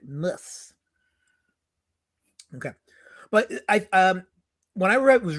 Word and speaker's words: Moers: Walter Moers. I'm saying it right. Mus.